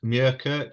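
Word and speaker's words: Muirkirk: say the the name of the village it's murkirk so it's m-u-i r k i r k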